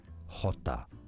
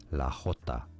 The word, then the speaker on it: jota: This is the name given to the letter J in Spanish. They don't call it J, of course, they call it Jota. La Jota.